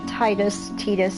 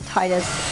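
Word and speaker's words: Tidus: Titus, however you want to say his name, doesn't matter. I've seen it accepted both ways. Like, even the people who created him have called him Titus and Titus, so it's like they don't even know.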